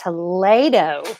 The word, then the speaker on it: Toledo: sorry isn't that precious it's pronounced Toledo people are telling me ok no it's